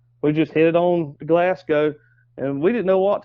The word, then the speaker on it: Glasgow: what, yeah, over in Glasgow, Kentucky. Yeah. I think that's how you say it. Yep. That is.